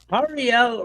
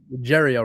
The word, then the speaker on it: Jariel: His name Ariel Rivera. Did I say that right correctly, sir? Did I say it right? Jeriel Rivera. Jeriel, I apologize.